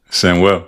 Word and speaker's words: Samuel: So if people call me Samuel, I like if you can, I like for people to pronounce it in Spanish. Samuel.